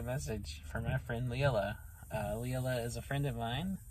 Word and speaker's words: Leela: Leela is a friend of mine. I always want to say Lila because of how it's spelled.